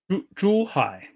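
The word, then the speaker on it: Zhuhai: Um, how do you pronounce it? Um, Thomas Zuhai or Juhai. Juhai.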